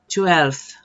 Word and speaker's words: twelfth: Eighth, ninth, ninth, tenth, tenth, eleventh, eleventh, twelfth, twelfth. Yes, it is possible. You just need to practice. Twelfth, you pronounce the F and after the TH, 12th, 13th, 13th.